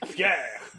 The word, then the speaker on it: Per: My name is Pierre.